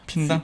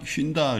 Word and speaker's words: 핀다: 발음을 그냥 핀다라고 해야 되겠어. 핀다. 휜다 그러니까 허리 휜다.